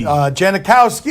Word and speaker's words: Janikowski: 40-year old Sebastian Janikowski Janikowski is how you pronounce he's been in the